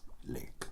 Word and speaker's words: lich: Anyway, lick. Leech. Lich. Lick. I mean, it is lick. That is how you pronounce it.